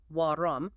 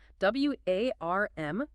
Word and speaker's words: warm: The host added an extra syllable, making it sound like wom when it's actually just a single syllable word. W A R M.